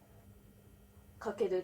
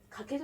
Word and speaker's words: 翔: 飛翔の翔って書いてかけるって読みます。